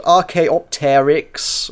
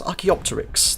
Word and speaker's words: Archaeopteryx: our pronunciation is wrong he's got rk opteryx it's it's archaeopteryx thank you very much the